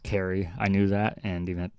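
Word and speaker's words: Cary: kept saying the city in north carolina was curry and it's totally pronounced carrie i knew that and even time i kept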